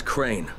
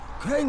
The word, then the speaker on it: Crane: the video store no my name is crane okay crane rhymes with train and brain and say and green and